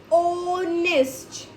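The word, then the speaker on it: honest: So spelling start from H बट एच is silent and द प्रोनंस pronunciation is ओ ओनेस्ट। सो वी कैन use over here N एन ऑनेस्ट is starting from H बट the sound of ऑनेस्ट इज इज ओ ओनेस्ट mount Everest is द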